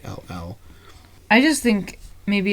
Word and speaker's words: Hall: The rest of the crows are voiced by the Hal or Hall Johnson Choir. Not sure exactly how you pronounce his first name. It's Hall.